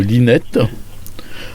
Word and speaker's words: Linet: qui est l'esplanade Roger Linette ou Linet. Peut-être qu'on ne prononce pas le T, donc Roger Linet.